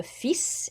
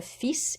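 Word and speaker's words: fils: the song is le fis if you're saying your son as in your male offspring le fis you actually do pronounce the s but that is an exception normally you don't pronounce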